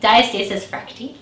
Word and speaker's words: diastasis recti: Diastasis recti. Perfect. Yes. Can you tell us a little bit about that? Because that's something that's common after pregnancy as well. Yeah, it can be common. Diastasis recti is a condition where the abdominal muscles, so